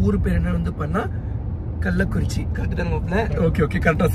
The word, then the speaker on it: கள்ளக்குறிச்சி: சில வாட்டி வந்து பார்த்தா கள்ளக்குறிச்சி அப்படின்னு சொல்லி ப்ரொனவுன்ஸ் பண்ணிடுவேன், சில வாட்டி வந்து பார்த்தா கல்லிடம் குறிச்சி அப்படின்னு சொல்லி ப்ரொனவுன்ஸ் பண்ணிடுவேன். பட் உண்மையான ஊர் பேர் என்ன வந்து பார்த்தா கள்ளக்குறிச்சி.